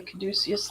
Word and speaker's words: caduceus: Yeah, the caduceus there as well.